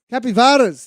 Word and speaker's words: capivaras: How do you say capybaras? I believe capybaras. I'm with you on that. Yeah. No, I'm probably going to get corrected. Capivaras, thank you. The Portuguese.